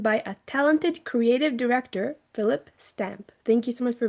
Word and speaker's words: Phillip Stamp: So, just to make sure, your name is pronounced Phillip Stamp, right?